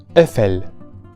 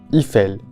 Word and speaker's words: Eiffel: Esta palabra nunca es pronunciada como Eiffel, que es algo que he escuchado mucho. En francés, siguiendo las reglas de pronunciación del francés, que las tiene, una combinación como EI generalmente produce a la vocal abierta E, o también, dependiendo del hablante, a la vocal cerrada E.